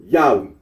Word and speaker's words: Yahweh: made for the name yahwe the scholarly consens of that the original pronunciation of the ttog was yahwe R Aro agrees that